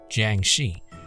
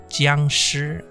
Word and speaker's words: Jiangshi: Or if you like the correct way to pronounce it, in Mandarin, it's Jiang Shi. And of course, if you want to pronounce it in Cantonese, then it's Jiangshi.